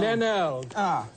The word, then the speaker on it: Glenelg: and I'm not- We've got it, Pronounce it Glenelg. Glenelg.